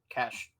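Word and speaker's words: cache: cach data um like internet cach data c c h is am I saying it right no no you are I'm just like act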